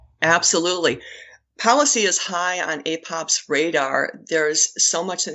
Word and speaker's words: APOPS: Sherrie is the founder and CEO of the Association for Pelvic Organ Prolapse Support, APOPS, pronounced APOPS.